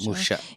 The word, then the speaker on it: Musha: Then, I have a question here or like my note TSS Musha publishing. Did I first of all pronounce it correctly? Yeah, yeah, Musha.